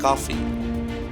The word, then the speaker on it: Coffey: The convict confirms that he is John Coffey. Like to drink, only not spelled the same.